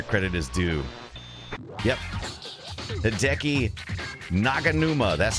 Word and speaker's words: Naganuma: credit to where credit is due yep thei naganuma that's how you see it that's how you